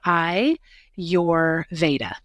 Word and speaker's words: Ayurveda: the word ayurveda which a lot of people don't even know how to say it so I like to always share I your vaa so I your V yep so I'd never heard